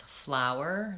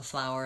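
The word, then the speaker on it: flour: And yes, those have the same pronunciation. It's the ow vowel with a W sound and then an sound. So flower and flower, same.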